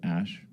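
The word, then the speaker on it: Æ: X um and then the AE is like pronounced Ash um yeah and then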